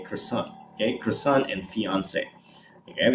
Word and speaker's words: croissant: it's not her son it's quesong but in in the u.s in in america people will say croissant okay croissant and fiance